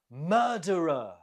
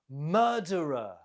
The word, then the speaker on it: murderer: Murderer. Murderer. The stress is on the first syllable.